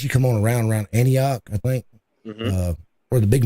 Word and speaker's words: Antioch: name of the city what was it Anna anochi is that how you say it Antioch an an I used to live in Antioch